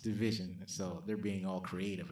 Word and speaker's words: DVSN: They call themselves Division, but it's it's spelled DVSN and it's pronounced Division.